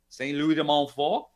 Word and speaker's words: Louis de Montfort: Saint Louis de Montfort. That's the proper French pronunciation for it.